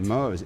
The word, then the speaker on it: Mohs: The center specializes in Mohs. Is that how you pronounce that? That is correct. Mohs, M-O-H-S, Mohs micrographic surgery and reconstruction, as well as the latest minimally invasive cosmetic procedures.